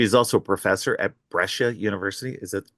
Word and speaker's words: Brescia: She is also a professor at Brescia University. Is that pronounced correctly? Yes, it is. It's Okay. Brescia.